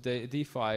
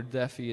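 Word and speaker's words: DeFi: second one there research defy or daffy depending on how we pronounce it d phi injection so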